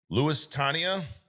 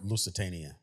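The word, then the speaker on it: Lusitania: Lewis Tania.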